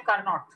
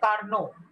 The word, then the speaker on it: Carnot: You don't say Carnot. You say Carnot. So T is silent.